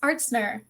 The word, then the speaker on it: Artzner: name how do I it's pronounced artner artner yep it's it's very German last name okay okay cool